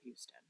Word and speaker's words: Houston: But if you're in downtown New York City, you ain't talking about the street called Houston. It's pronounced Houston. Everybody knows that.